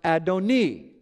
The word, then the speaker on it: Adoni: The Masoretic text, which is 1,000 years later after Yeshua, clearly shows that the second Lord is pronounced Adoni instead of Adonai.